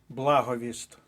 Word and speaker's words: благовіст: різних словнички підтвердили що наголос на першому складі благовіст благовість - це коли дзвонар починає перед початком церковної служби повіщати дзвоном в результаті благовість записуємо до першої колонки але пам'ятаємо що прикметник благовісний по-перше зникає літера т - це спрощення приголосних а по-друге міняється наголос благовісний але благовіст далі рухаємося заєржавіти наголос